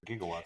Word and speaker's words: gigawatts: Is it gigawatts or gigawatts? It's actually gigawatts, but back then, giga wasn't really something that we used ever, and so he mispronounced.